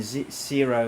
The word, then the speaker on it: Sero: running, and mine some Zero Coin. And it's Super SUPER, then Sero is spelled SERO.